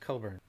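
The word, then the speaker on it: Cockburn: Legal name is Olivia Coburn, but it's has a nasty spelling. It's spelled Cochburn, but pronounced Coburn, right?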